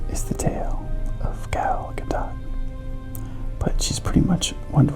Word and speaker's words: Gadot: As many of the fans are familiar, Gal Gadot, and yes, the T is pronounced, is an Israeli.